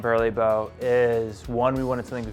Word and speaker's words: BURLEBO: The reason we came up with the name Burly Bow is one, we wanted something very unique.